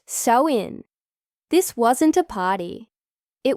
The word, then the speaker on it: Samhain: They celebrated a festival called Samhine, pronounced so in.